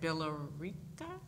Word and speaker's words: Billerica: In 2016, she became the Director of Educational Services at Billerica? Billerica. The E is silent.